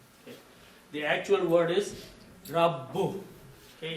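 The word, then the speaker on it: رَبُّ: So this actual word is rabbu. If you just say rab, there is no word like rab. Okay? The actual word is rabbu. Okay? You have to pronounce ba at least twice with your tongue.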